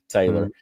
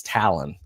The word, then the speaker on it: Talon: Because a lot of people call it Taylor. And I said, how do you spell it? And she was like, it's just like a bird's beak. She said, it's Talon.